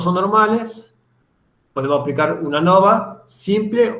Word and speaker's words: ANOVA: ANOVA proviene del inglés Analysis of Variance, pero no sé si lo pronuncio bien. Y en español sería análisis de la varianza. Es lo que significa. Entonces, deberíamos en todo caso decir ANAVA, pero por convención casi siempre, muy pocas personas escuché que le digan ANAVA. Tiene una profesora de Santiago que ella lo pronunciaba así, Santiago del Estero.